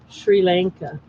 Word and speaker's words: Sri Lanka: Shri, not Siri. Shri with an H. It's a little easier to pronounce. Sri Lanka.